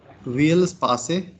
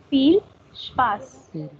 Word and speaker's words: Viel Spaß: Will Space. Viel Spaß.